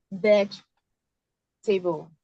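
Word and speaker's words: vegetable: So this is called veg table. This is it. This is called veg table. So this is J, veg table.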